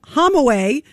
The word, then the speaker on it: Hamawy: I am shocked and I am disgusted that this guy, Dr. Adam Hamaway, that's how you pronounce his name.